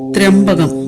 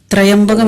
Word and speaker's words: ത്ര്യംബകം: അതിങ്ങനെയാണ്: ത്ര്യംബകം യജാമഹേ സുഗന്ധിം പുഷ്ടിവർധനം ഉർവാരുകമിവ ബന്ധനാൻ ത്രയംബകം വാത്സല്യപൂർണമായ ആ, ഓ, മ എന്നീ അക്ഷരങ്ങളെ നൽകുന്ന ബ്രഹ്മം. ആദ്യകാലത്ത് പിതാവ്, ആചാര്യൻ എന്നർത്ഥം. പിന്നീട് ത്രിനയനങ്ങളുള്ള പരമശിവൻ എന്ന സങ്കല്പമായി. ത്രയംബകം എന്ന് തെറ്റായി പലരും പറയുന്നുണ്ട്. ഈ മന്ത്രത്തിലെ ശരിയായ പദം ത്രയംബകം എന്നാണ്.